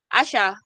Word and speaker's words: Asha: my number Asha Nadia did I did I pronounce it way Asha yeah you yes you did all right right all